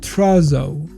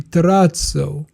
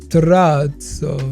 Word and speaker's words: terrazzo: In English, it's pronounced trzo, but the right way to pronounce it is actually trato because it's originally Italian. It's like trato.